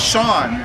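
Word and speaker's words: Seán: you'll know this in English but that says Sean where's the H there's no h but s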